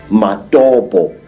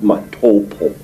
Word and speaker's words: Matopo: And one of these parts of Africa, say, is a remarkable place called the Mountains of the Round Rocks, Matopo, wrongly pronounced Matopo, in Zimbabwe.